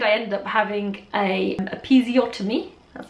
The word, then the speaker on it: episiotomy: And so in the end I ended up having a episiotomy. That's how you pronounce it.